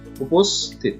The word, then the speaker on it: উপস্থিত: উপস্থিত, উপস্থিত, সঠিক উচ্চারণ হচ্ছে উপস্থিত। তারপরে আছে দরখাস্ত, দরখাস্ত, দরখাস্ত।